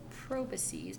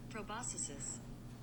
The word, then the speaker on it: proboscis: Proboscis. Proboscis. Let's try this again. Proboscis. Oh, okay. Proboscis. Sorry, I said a long I and they said a short I.